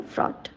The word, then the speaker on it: fraught: ऑफ द डे है एफ आर ए यू जी एच टी और इसे हम प्रोनाउंस करते हैं फ्रॉड इसका यूज एज एन